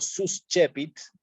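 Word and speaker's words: suscepit: la base y digo sus chepits también está bien porque la c con la e la pronuncio como una ch sus chepits sí Y ahí estoy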